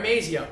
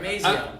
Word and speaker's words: Mazzo: You said my last name wrong. I'm sorry, what is it? Mazzo. Mazzo. Mazzo. Just Mazzo.